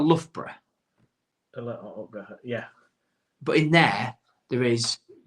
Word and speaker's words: Loughborough: Yeah. Bruff. Lough and bruff, innit?